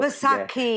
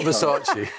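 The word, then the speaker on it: Vaisakhi: I'm not sure how you pronounce it, but Vasaki. I just wanted... As Nick says, not Versace.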